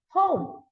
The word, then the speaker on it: home: Even though the spelling is H-O-M-E, me,ใช่ไหม? There's an E, but the E is silent. Silent เปรี้ยไม่มีเสียง Okay, it's silent ไม่มีเสียง The E has no sound. Alright, so since the E has no sound, you have to pronounce it as home.